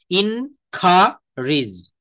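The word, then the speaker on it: encourage: ইনকারেজ, আমাদের মতো করে উচ্চারণ করে নেবার, ইনকারেজ, ইন খা রিজ, ইন খা রিজ।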